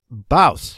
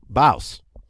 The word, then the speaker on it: Bouse: Rhymes with mouse, but I didn't rhyme. That didn't rhyme, did it? I always have trouble with that. Mouse, Bouse. Yeah, that's it. Bouse.